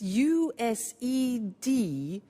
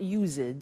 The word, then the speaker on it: used: spelling s it's it's u s e d and then t o but the pronunciation is not used it's used unusual used okay so